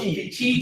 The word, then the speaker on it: Peachy: Is it not pronounced Pickey? Oh, peachy. Peachy. Pickey. Sorry, it's cool. It's the way it's spelled.